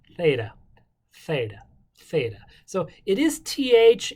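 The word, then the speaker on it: θ: greeks do it then take the back of your tongue and say theta theta but that's your th practice it with me theta theta c is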